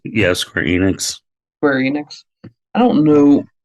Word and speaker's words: Square Enix: properly pronounce her name I think it's Square Enix yeah Square Enix Square Enix I don't